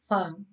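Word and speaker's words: ف: This is pronounced on the wet part of the lips, lower lips, and on it two front teeth touching the on it lips like fa, fa on it khada zabro fa, fa on it khadi zere fi, fa on it ulta pish fu, fa fi fu.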